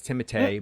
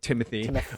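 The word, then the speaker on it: Timothée: bardem um and timothy by the way it's timothee but whatever we'll go with timothy um charlemagne uh chalamet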